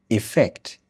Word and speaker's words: effect: E effect. Very short e sound.